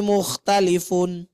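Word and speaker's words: مختلفون: Ini nih nun sukun ketika dia di akhir kalimat. Ibu jangan bacanya begini Bu ya, karena sudah bagus di awal alladzihum fihi mukhtalifun atau mukhtalifun. Nah, sempurnakan bunyi nunnya, dengungnya.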